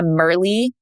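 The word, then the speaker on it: Myrlie: future wife a merly is that how you say her name merly merly I think it's merly that's how you say it m y r l i e I think is how you spell it that's how I have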